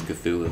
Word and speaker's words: Cthulhu: I don't know how you pronounce it. I say Cthulhu. It's Cthulhu.